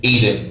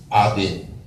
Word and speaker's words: Eden: original state, okay, was Eden, very more properly pronounced Aden.